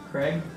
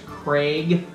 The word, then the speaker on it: Craig: See, apparently Americans say Craig with an E, but it's Craig, like A-Y, Craig.